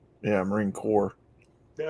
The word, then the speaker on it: Corps: military the Marine corpse it's not corse it's core yeah I'm Maring core the S is silent